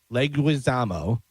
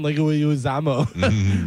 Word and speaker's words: Leguizamo: I always trying to add a extra syllable in there, and I always go John Leguizamo. Leguizamo. Yeah, there you go.